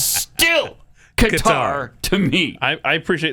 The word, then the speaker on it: Qatar: It's Qatar. It's not gutter. It's not guitar. It's Qatar.